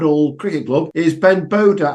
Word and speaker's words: Bodha: from grapp it all Cricket Club is Ben Boda how we doing Ben morning Ian how you